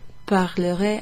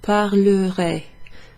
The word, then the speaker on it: parlerai: With that, the ER isn't pronounced E like it is in the infinitive form. Its pronunciation changes because it's followed by additional letters. So instead of parler, which is to speak, that's the infinitive form, this is actually parlerai, parlerai.